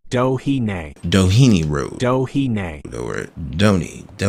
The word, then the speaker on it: Doheny: Doheny is pronounced Dohine.